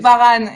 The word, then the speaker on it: Varane: I mean, is that how you say it's his name? I'm sorry, it's Varane, right? Varane, yes. Varane, yeah, Varane.